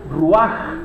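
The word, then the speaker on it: רוּחַ: En hebreo se dice, ahí tiene la H, pero en realidad se pronuncia ruaj, que es la terminología hebrea para definir al Espíritu.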